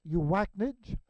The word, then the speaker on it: UACNJ: And that's what Mercury looks like here at UACNJ, which I pronounce Uwaknij.